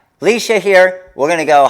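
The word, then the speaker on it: Leshia: I am pronouncing it right. Yes, I'm on fire today. All right. Leisha here.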